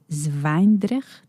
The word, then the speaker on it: Zwijndrecht: And before that, you were a mayor of a city that I probably will mispronounce, Zwijndrecht.